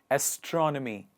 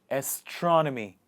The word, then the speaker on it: astronomy: the list is astronomy astronomy the stress is in the beginning of the word astronomy what is astronomy the